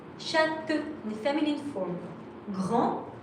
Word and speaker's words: grand: Grand with a D, you don't pronounce it.